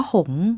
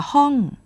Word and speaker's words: หงส์: หงส์ เนี่ย นะ คะ คำ ว่า หงส์ นะ ฮะ ใน ส่วน ของ เอ่อ ภาษา เป็น ภาษา มา จาก ภาษา จีน กลาง นะ ฮะ หรือ อาจ จะ ออก เสียง ว่า หงส์ หรือ อาจ จะ ฮ้อง นะ คะ ฮ้อง นะ ฮะ อัน นี้ ก็ เป็น ภาษา จีน ฮกเกี้ยน นะ ฮะ แปล ได้